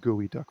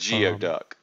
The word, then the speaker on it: geoduck: pronounced Gooey Duck for some reason.